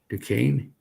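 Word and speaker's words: Duchesne: I think pronounced Dukane.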